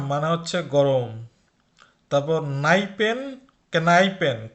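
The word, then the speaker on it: Kneipen: তারপর নাইপেন, কেনাইপেন, কেনাইপেন এটার উচ্চারণ কিন্তু নাইপেন না, এটা কে এর উচ্চারণ করতে হবে।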